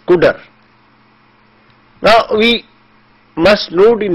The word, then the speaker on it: cdr: the spelling is CDR the word CDR which represents the operation of CUDA is pronounced as CUDA now we must load